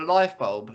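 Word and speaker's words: Lyfebulb: also an ambassador for life bulb is that how it's said yes like yes because it's spelled l y f e b u l b yes it is um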